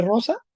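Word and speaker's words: rosā: la marca del acusativo Cuál es el ablativo ro sa Okay con la a larga Rosa Ah y el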